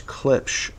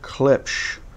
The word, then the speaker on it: Klipsch: pair of clip clips i was just told in the comments that i don't pronounce clips correctly so we're giving away a wear away a pair of klipsch r51ms i will link